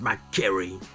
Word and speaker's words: McQuarrie: parcours d'un homme exceptionnel ralph mcquarrie ouais je le prononce à l'américaine parce que c'est un américain donc rage mcquarrie qui